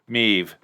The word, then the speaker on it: Maeve: without a sports jean meev the a is silent apparently all right cool meep